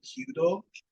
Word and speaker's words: kyudo: I think traditional archery in Japanese it's called kyudo, Mhm. Kyudo, U with the long O.